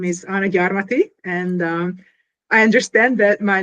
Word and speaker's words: Gyarmathy: My name is Anna Gyarmathy, and I understand that my last name is somewhat unpronounceable.